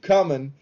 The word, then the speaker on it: Cumin: Um the second track is called Keep Coming, but it's spelled C U M I N. So it's like ah keep that cumin on your uh spice rack for your cooking uh needs.